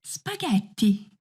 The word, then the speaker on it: spaghetti: do double letters exct when you find a word with a double consonant you just have to pronounce it more strongly a common example is spaghetti oh I understood well